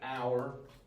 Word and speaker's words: hour: That h is silent. So the rule is how the word sounds is not necessarily how the word is spelled. So you would say an hour or a meeting and